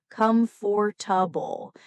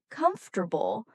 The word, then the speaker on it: comfortable: Many learners say it slowly as comfortable, but in everyday English, it's often pronounced as comfortable, a shorter, smoother sound.